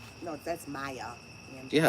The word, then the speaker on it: Maya: Mia Angelou. Mama. Mama. Mia. No, that's Maya.